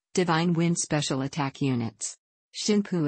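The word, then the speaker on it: 神風: Shinpu is the on reading, on Yomi or Chinese derived pronunciation of the same characters that formed word kamikaze in Japanese.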